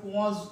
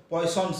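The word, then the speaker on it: Poisson: এমনি উচ্চারণ করতে গেলে আমরা যদি এরকম ডাইরেক্ট উচ্চারণ করতে চাই আমাদের মতন তাহলে হয়তো পয়সনস ইকুয়েশন বলে, কিন্তু নামটা এরকম নয় আর কি, বেসিক্যালি পোয়াজ ইকুয়েশন এইরকম নামটা।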